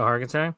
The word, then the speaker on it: Hargitay: You're playing the Mariska same Haggerty, right? Is that her name? The one that is in SVU? Mariska Hargitay.